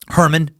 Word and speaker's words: Hermann: Friday March 14 1879 Albert Einstein born in the city of ohm he's born in Germany - Hermann Einstein Hermann looks like Herman it's pronounced Herman I believe they just